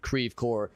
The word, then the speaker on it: Creve Coeur: Or if you're if you speak French you might have just had a conniption when I said that out loud. Creve Coeur. That's how St. Louisans pronounce it.